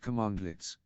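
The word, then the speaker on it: cmdlet: commands in Powershell are called conducts pronounced commandlets unlike many other shell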